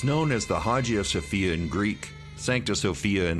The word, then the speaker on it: Hagia Sophia: they are saying it I know it as Hagia Sophia that's why I've always heard it pronounced so just you know